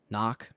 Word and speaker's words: NOC: Nonofficial cover. Knock. pronounced knock.